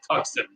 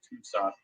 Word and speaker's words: Tucson: out of tucson arizona a place that most people call tuxen if they don't know how it's pronounced so for those of you looking that all this time think it's tucson it's tucson um and he is